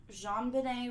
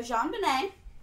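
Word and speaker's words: JonBenét: me all right so Jean Benet wait baby named after her dad John Bennett so this is the French pronunciation and her middle name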